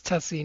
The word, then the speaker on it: Tuccy: And you have to on air say, well, it's Tuccy, not the way that they pronounced it, right?